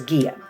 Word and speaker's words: Gaia: research give GA IA some people pronounce it a lot of different ways today I will be pronouncing the way that I know is gear which I've known her for years you need to research